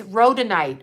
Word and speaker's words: rhodonite: they also are the root chakra but this rhodonite wrote let me spell it for you i have it written down